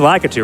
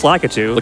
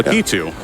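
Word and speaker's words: Lakitu: You mean Lacatu, right? Yeah. Lit. What's Litu? It's Lakatu. Litu. Be sure to donate to tell Johan you pronounced Lacatu wrong.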